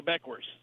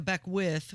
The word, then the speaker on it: Beckwith: I think first, Micah Beckwith would appreciate if you could pronounce his name right. That's such a Midwest thing to do, like when you add an S to everything. It shouldn't be there.